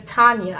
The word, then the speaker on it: Tanya: And Tania, and her name is not Tania, it is Tanya. I've been pronouncing this girl's name wrong, okay?